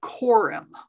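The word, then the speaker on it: corymb: how do you spell quorum it's right up there on the slide c-o-r-y-m-b you don't pronounce the b oh i see okay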